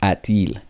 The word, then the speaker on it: a-t-il: wasn't sounding so well, so they added a T in between. That's why there is a-t-il. It doesn't really mean anything other than just that it is put there for that purpose of pronunciation.